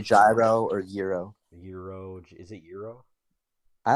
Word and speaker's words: gyro: and like I thinko definitely not gyro it's not gyro no I don't think so I heard Americans say that but it's Euro um I've had it